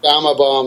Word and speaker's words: Gama Bomb: Okay, so how do you pronounce it? Gamma Bomb? Gama Bomb, that's the one.